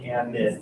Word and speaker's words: amide: that makes it the amide with a D. That's why I pronounce it differently, so there's not confusion there. Amide with a D, amine with an M.